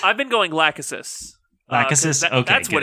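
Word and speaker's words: Lachesis: How are you wanting us to pronounce? I've been going Lákhesis.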